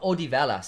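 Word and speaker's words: Odivelas: Odivas or Odivalas. That's how you pronounce that.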